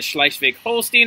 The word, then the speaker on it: Schleswig-Holstein: the words up here and i'm going to pronounce them for you okay here we go schleichvig holstein all right so those two areas are actually